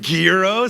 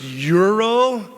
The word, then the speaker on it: gyro: Gero, some say. You ever hear somebody order a gyro? Yeah, I've heard it pronounced yurro.